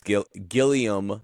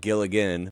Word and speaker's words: Gilligan: But Vince Gilliam, not Gilligan, by the way, the director's name, Yeah. Gilliam. Well, there's Terry Gilliam. Am I saying it wrong? Yeah. I thought it was the TV creator of Breaking Bad is Vince Gilligan.